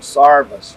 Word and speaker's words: service: Service berry. Down where I grew up in eastern Kentucky, they call them sarvis trees. Mm-hmm. And I'm assuming they were intending to pronounce service, but they also had